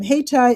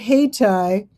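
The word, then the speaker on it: Hayti: live in Durham, um, Hatai is the name of an historic African-American neighborhood. And it's called Hatai. It's named after Haiti. And it's spelled different. See, it's spelled with the Y.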